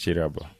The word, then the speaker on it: Kirabo: It's written with a K, like Kirabo, but pronounced Chirabo.